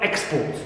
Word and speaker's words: export: So here, as you see, accentual pattern of the word export, which is brought about or caused the change in the stress placement from first syllable to second, and also reduction of the first vowel a to e, turns or helps us to distinguish between export as noun and export, stressed on second, as verb.